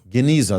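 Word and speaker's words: גניזה: Correct me if I mispronounce it. Geneza. Geneza.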